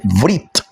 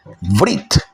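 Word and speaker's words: ברית: En hebreo la palabra pacto se dice vrit, vrit, ¿sí? Vrit se escribe con las letras Bet, la letra Resh, la letra Yod y la letra Taf.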